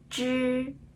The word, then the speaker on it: 知: 下，知、吃、诗，知、吃、诗。